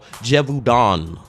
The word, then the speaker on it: Gévaudan: I think I'm saying it right now, y'all, Gévaudan.